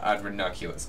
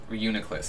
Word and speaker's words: Reuniclus: Like, here, let's do damage calc on Ranunculus. Okay, Ranunculus. Reuniclus. I think I've been saying it wrong, actually.